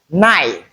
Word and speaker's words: knife: Then in this particular graphing that is kn the K is silent. Hence we're left with what? In words like me. Look at the transcription. We don't have the C sound there. So it's me. Knife.